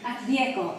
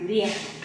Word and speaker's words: Rieko: Rieko, like echo again, like Rieko.